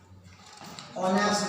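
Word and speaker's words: honest: है, एन आता है, क्योंकि लिखा जरूर एच है, लेकिन जब आप प्रोनाउंसिएशन करते हैं तो क्या ओ ऑनेस्ट बोलते हैं ना। आप कोई ऑनेस्ट बोले तो अलग बात है, ऑनेस्ट बोलते हैं तो ओ, तो इसीलिए एन आता है।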